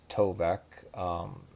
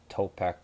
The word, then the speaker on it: Tovec: To the second, my name is pronounced Tovec. Yeah, I mispronounced it. I thought you were Topek was giving homage to the Mesoamericans.